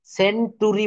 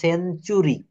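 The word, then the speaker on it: century: ইউ R furniture structure তো এখানে টি এর পর ইউ থাকলে এই এর উচ্চারণ চ এর মত হবে ফার্নিটার বলা যাবে না সেন্টরি বলা যাবে না বলতে হবে সেঞ্চুরি লেকচার অর্থাৎ টি এর পর ইউ থাকলে টি এর উচ্চারণ চ এর মত হয়ে যাবে এই যে টার হওয়ার কথা লেকটার সেঞ্চুরি বাট এটা হবে চ লেকচার সেঞ্চুরি ফার্নিচার স্ট্রাকচার এটুক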